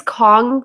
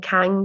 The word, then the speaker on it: Kang: His name is Kong, but I kept calling him Kang because it's spelled Kang, and I'm, desperate. Even after looking at the pronunciation list.